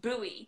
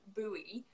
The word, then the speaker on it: buoy: And she says buoy. And it was the first time I'd ever heard buoy in my life, and I was like, are you sure you're pronouncing that word correctly? Like, checking in the dictionary, making sure she was correct. So it was buoy. So we normally say buoy.